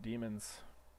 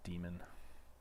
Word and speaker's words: daemon: And since this is running a different version of Gradle, it'll launch its own daemons. I spent a good deal of my life thinking that was pronounced daemon. But it's actually demon.